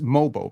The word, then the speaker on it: Mogbo: was a play where it's it's mobo by the way I don't know if you deliberately are mispronouncing names to be funny but